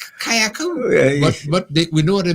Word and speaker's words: Carriacou: And when I sometimes look at the news, I just wonder that sometimes they can't even pronounce the Carriacou as we Kayaku.